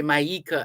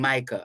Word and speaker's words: Maica: that's all right and maika looks like Micah Micah m-a-i-c-a could be Mica could be myeka as well but I'm saying Micah I believe it is Micah and uh afternoon Sir